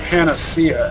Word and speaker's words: Panacea: Major Slack pronounces it Panacea, and that's how I learned it was actually pronounced that way. I felt compelled to look it up to know for sure. But my Midwestern tongue just can't abide that. It rolls off my tongue more naturally to say Panacea, with the accent on the second syllable.